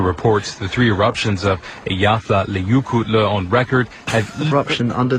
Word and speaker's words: Eyjafjallajökull: Pronounced. What? Are you kidding? Is that the Eyjafjallajökull glacier? The eruption at the Eyjafjallajökull glacier was The volcano underneath the Eyjafjallajökull glacier.